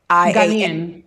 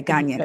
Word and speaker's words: Ghanaian: How do you say it? Ghana. I know it's GANIA. Ghanaian. Ghanaian. Okay, Ghanaian.